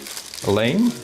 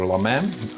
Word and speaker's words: lame: I also got lame or lamam, depending how you pronounce it, which fits a razor blade to score the bread.